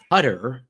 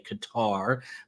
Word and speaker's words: Qatar: this a big hello from putter is the way they pronounce it now some say Qatar but lest you think